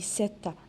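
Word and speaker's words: sept: Alors, ici, je dis 7 et je ne prononce pas la lettre P.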